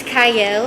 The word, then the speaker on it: Qiayel: TV my name is cyle it starts with a q but it is pronounced Cy and happy New Year